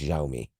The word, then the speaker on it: Xiaomi: how you pronounce that yeah it's pronounced xiaomi uh okay I'm trying